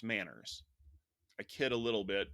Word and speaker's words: MANRS: There's a group that's been formed called the Mutually Agreed Norms for Routing Security, MANRS, which means this group really wanted their name to be pronounced Manners.